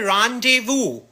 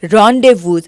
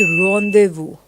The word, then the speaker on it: rendezvous: इस वर्ड को प्रोनाउंस करते हैं रॉन्डेवू, और तुम क्या बोल रहे हो? It's not rendezvous, it's rendezvous.